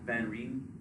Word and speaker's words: van Rijn: Van Rijn.